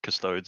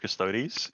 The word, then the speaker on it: Custodes: That name pains me a bit, like when people call them custodes instead of custodies, because it's like Adeptus Descartes. Is that how it's pronounced?